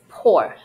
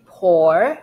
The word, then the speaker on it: poor: You could say poor, like O-R sound, or poor. Or you can make short double O sound. Poor. The film received poor reviews. Me, personally, I usually pronounce this as or, poor. So you could go either way, poor, poor, poor, or short double O, which is like good.